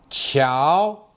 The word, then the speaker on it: 桥: 桥 Now watch how I pronounce it. 桥七一熬桥桥小桥小